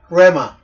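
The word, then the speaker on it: ῥῆμα: 레마 여기 레마라고 되어 있습니다.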